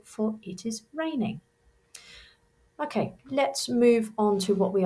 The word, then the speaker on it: les: So anything beginning with le, L-E, is masculine. Anything beginning with la is feminine. And anything beginning with le, L-E-S, is plural. Remember, we don't pronounce that S, and it's a slightly different pronunciation.